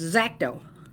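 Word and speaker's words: X-Acto: people pronounce it xacto there's no e only an X so it's zaco and now I have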